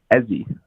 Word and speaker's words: Ezzy: Ezzy. Ezzy? Ezzy. How do you spell that?